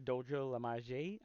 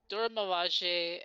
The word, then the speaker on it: Dora Milaje: which is I think it's focused on the Dojo Lamage. That's how you pronounce it, I think, or is it focused on something else? I Yeah. really don't know much about this one. Dora Milaje, and I also did hear it's kind of